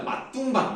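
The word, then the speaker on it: 맛둥방: 어떻게 배웠어요 그렇게 배웠어요 이거를 선홍방이라고 읽지 않습니다 맛둥바 이렇게 읽었습니다 막둥 방뜰에서 조사 목적격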